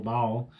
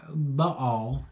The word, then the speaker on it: Baal: There's a thousand different ways to say it. In Texas, it's one syllable, Baal. But Baal is, I believe, how you really pronounce it.